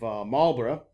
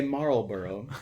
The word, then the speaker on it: Marlborough: it is it is absolutely beautiful outside of marlborough in wiltshire i think i've pronounced both of those fairly correctly just about well i didn't say marlboro for the americans in the audience i'm in